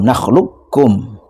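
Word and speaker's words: نَخْلُقكُّم: Jadi qofnya tidak diqqalqolahkan tapi langsung idgham nakhlukkum.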